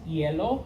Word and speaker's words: hielo: And it's pronounced hielo, kind of like the color.